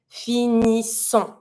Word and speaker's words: finissons: Every time you have the double S, you need to pronounce that sound like an S sound. Nous finissons. I pronounce my ONS, but I'm never going to pronounce the final S.